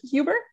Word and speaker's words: Huber: much briny and doctor is it hoover is that how you say it or huber yeah uh actually you're by